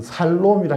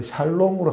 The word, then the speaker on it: 샬롬: 해당하는 여호와 샬롬이란 단어입니다 우리 한글 번역에서 살롬이라 했는데 정확하게 말하면이 야아가 아니라 야로 해서 샬롬으로 하는 것이 좀 더 정확한 발음에 모습인 것이죠 오늘 기도원이라는 것은 기도원은